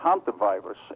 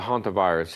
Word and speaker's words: hantavirus: you ok well the hantavirus it's a very its name almost fills in with the doesn't it isn't spelled like it like it sounds but it almost sounds like a haunted house it's a very it's